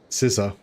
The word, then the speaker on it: Sissa: Scissor. Yeah. She her name's like Scissors, but it's spelled Sissa because of all the Bretonians.